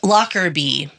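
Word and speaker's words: Lockerbie: Um, Locker B, um, is spelled L O C R E R. Nope. L O C K E R B I E.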